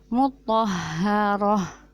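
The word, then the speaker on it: مطهرة: ada kata Muthohar rotan ketika dibaca waqaf stannya akan menjadi hak sukun mutoharoh bukan Muthohar otak susah Hai tetapi yang benar cara membacanya mutoharoh seperti itu ya nya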